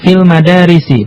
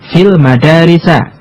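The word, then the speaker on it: في المدارسِ: belajar di sekolah sekolahanskolahan dibacanya fil madarisi bukan fil madarisa Kenapa karena dia tidak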